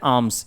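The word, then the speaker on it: alms: को कहा जाता है आर्म्स यहां पर ल साइलेंट होता है आर्म्स नहीं कहेंगे हम इसे क्या कहते हैं आर्म्स कहते हैं फाइन मेंस अब आप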